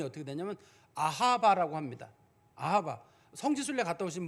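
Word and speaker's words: אהבה: 특이해요 히브리어에서 사랑 그러면 다 무슨 뜻이 히브리어로 발음이 어떻게 되냐면 아하바 합니다 아하바 성지술례 갖다 오신 분들은 알겠지만 이스라엘에서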